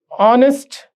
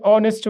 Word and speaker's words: honest: So H is silent.